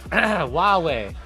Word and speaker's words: Huawei: Huawei that's it first last that's it Huawei that's how you say I knew that it was a really weird pronunciation but I I forgot I actually haven't